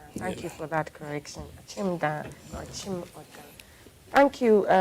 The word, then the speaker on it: Akim Oda: I'd prefer you mention that's very foreign in my ears when people pronounce it Akim. Akim. Okay, so it's Achimda. Akim Oda. So I mean, for you to be accepted by the people of Oda, you say Achimda.